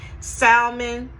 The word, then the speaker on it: salmon: Salmon, the L is silent, sorry guys.